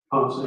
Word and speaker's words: Ponce: And Officer Ponce, is that how you pronounce his name, Ponce? Ponce, yes.